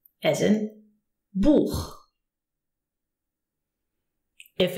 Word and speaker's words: Buch: If the CH is preceded by an A, O, or U, you pronounce it H. It comes from here. H, as in Buch.